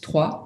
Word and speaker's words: Troyes: So it's a very weird spelling because it's spelled Troyes, but you pronounce it Troyes, like the number.